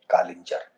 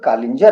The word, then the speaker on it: कालिंजर: ऐसा नहीं लगता था कि हमारा ही शब्द है यह कालिंजर, और इसके उच्चारण में भी दोष है। सही शब्द कालिंजर है, लेकिन बहुत लोग इसको कलिंजर बोलते हैं।